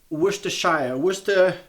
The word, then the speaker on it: Worcestershire: So this thing over here, you guys I think would pronounce this Worcestershire sauce. Now, coming from South Africa, we just used to call this Worcester sauce.